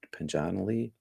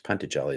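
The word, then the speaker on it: Patanjali: mm, according to the Pantajali Sutras, or how else is it pronounced? Panjanali? No, it's Pantajali is the way I say it.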